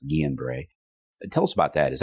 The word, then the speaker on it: Guillain-Barré: flu and Guillain-Barré, or Guillain-Barré, but it's actually pronounced Guillain-Barré.